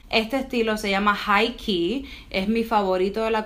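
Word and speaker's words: Quay: ver muy chiquitito se escribe que pero se pronuncia ki key Australia es una marca de lentes de sol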